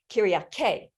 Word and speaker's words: Kyriaki: And wait a second, I want to say Kyriake. I want to make sure that I say it correctly because I've been practicing.